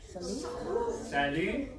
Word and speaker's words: salut: Salut. T is silent.